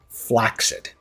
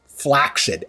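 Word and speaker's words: flaccid: The word is correctly pronounced flaxid.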